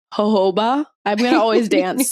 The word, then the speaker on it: jojoba: I feel like jojoba.